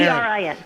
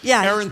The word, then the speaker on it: Erin: I don't want to mispronounce. Erin E R I N.